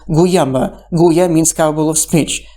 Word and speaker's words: Kuyaba: Kuyaba should be likely read as Guyaba.